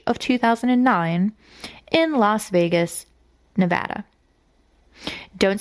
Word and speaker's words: Nevada: And the whirlwind love story of Jasmine Fiore and Ryan Jenkins began back in March of 2009 in Las Vegas, Nevada.